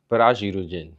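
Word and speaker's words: ブラジル人: For some reason, the R is pronounced differently, so it's pronounced la, be, and do.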